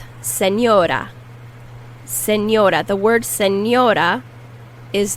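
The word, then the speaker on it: señora: seniora a mature woman senora senior and that n is pronounced like an n and an i if you put an n and an i next to each other that's how you pronounce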